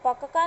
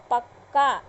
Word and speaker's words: पक्का: अब उसी तरह शब्द बनेगा पक्का, यानी ये जब आधा क है तो उसमें पूरा क का उच्चारण नहीं लेंगे, पक्का नहीं बोलेंगे, क्या बोलेंगे, पक्का।